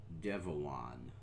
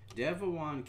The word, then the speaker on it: Devuan: a Debian install however this is the new devaan now it's spelled D Vu an Devan came about because of the disagreement within Debian